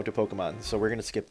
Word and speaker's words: Pokémon: I know that's the official pronunciation, I just call it Pokemon because I am lazy and don't care.